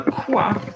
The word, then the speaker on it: quoi: QU, now quoi is an example. That would generally be like a KW, like quoi, or quoi, no.